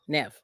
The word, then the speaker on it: Niamh: But that's what he named his daughter, Nev, like Nev Campbell. So apparently that's a Gaelic name.